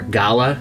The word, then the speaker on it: gala: So I should have said in the voiceover, the apple that I used here was a gala, or gala, as some people pronounce it, which is pretty sweet, and that one was a bit overripe.